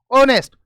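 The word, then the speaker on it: honest: ऑनेस्ट, अभी तो हमने सीखा, ओ को ध्यान रखेंगे यहां पर, क्योंकि एच तो साइलेंट होता है, ओ ने ओ की आवाज दी, यानी यही एरर है।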